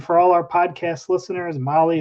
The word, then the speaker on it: Mahle: And for all our podcast listeners, Molly is spelled Mahle.